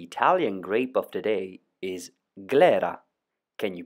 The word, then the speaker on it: Glera: the Italian grape of today is Clara can you pronounce it Clara